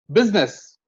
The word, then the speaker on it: business: Business. In the word business, I is not sounded. This is the only word in English where I is not sounded at all. Business. The pronunciation is business.